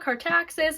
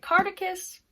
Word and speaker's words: Cartaxis: by this organization called Cartaxis. I've been pronouncing it wrong all my time knowing about this book until now. It's called Cartaxis. I kept pronouncing it Cartacus.